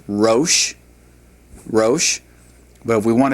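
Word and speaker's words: ראש: It's pronounced rosh, rosh.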